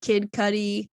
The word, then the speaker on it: Kid Cudi: his best album um it featured uh Jay-Z Kid Cudi is how you say that I'm not wrong